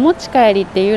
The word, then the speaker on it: お持ち帰り: おもちかえりできますと書いてあります。 It says “Omochi kaeri dekimasu”.